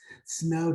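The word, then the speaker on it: sneaux: called snow day and it's spelled the cajun style s-n-e-a-u-x snow day and basically we bring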